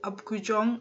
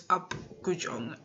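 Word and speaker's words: Apgujeong: So yeah, we had dinner at Upgujong. I pronounced it wrong, but it's Upgujong.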